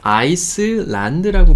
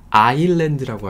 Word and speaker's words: island: 네, 이거 아이슬란드라고 보통 많이들 읽으시는데, 제 친구들도 이거 갖다 주면 아이슬란드라고 읽을 애들이 굉장히 많습니다. 근데요, 여기서 ISLAND에서 S는 소리가 안 납니다. 네, 이런 단어가 맞느냐? 많으냐? 그렇지도 않아요. 그냥 얘가 좀 독특한 애예요. 그래서 여러분 섬 하면 아일랜드라고 하셔야 돼요.